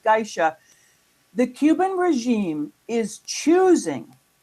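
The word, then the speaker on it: GAESA: The acronym is pronounced Gisha.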